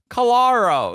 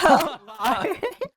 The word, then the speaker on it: Callari: listen to my music, I have my tag with my name and how to pronounce it in it, and then people are just like, oh. Calaro, like fuck off. Callari.